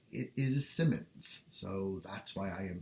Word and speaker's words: Symons: that I um I've heard his last name pronounced Simons but I've looked it up and it looks like it is Simmons so that's why I am saying Simmons rather